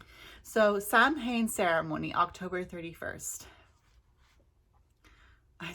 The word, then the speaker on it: Samhain: to celebrate saline and it's spelt s-a-m-h-a-i-n so that's why i say samhain because like i said i'm a new witch so when i first started saying sally and i was saying sam hayne i'm pretty sure a